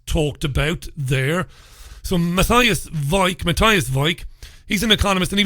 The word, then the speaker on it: Weik: They said Weik. It's spelled W-E-I-K.